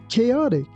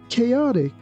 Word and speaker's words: chaotic: In this word, ch doesn't sound like chip.